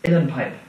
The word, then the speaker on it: uilleann: work with him today this is an inner pipe near them like now it's spelled UI l EA I William how do you smell it new ID the below or VA mm yeah waiter so these are